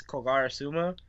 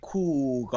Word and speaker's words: Kogarasuma: Like, they'll probably put they'll be like Cougar. I'm like, no